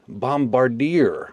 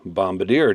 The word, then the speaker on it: Bombardier: this little guy here is the Artisan Cutlery bombarder or Bombadier depending on how you like to pronounce it that's the knife that we have